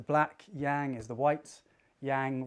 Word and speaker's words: yang: Yang rhymes with fang.